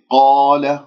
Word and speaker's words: قال: وإذ قال هكذا بهذه الطريقة، القاف مفتوحة بعدها ألف، إذن مفخمة مرتبة أولى، ولدينا ألف ساكنة قبلها مفتوح، وهذه طبعا مد طبيعي بمقدار حركتين. قال ولا أقول قال، لا إعمال للشفاه عند نطق حروف الاستعلاء السبعة.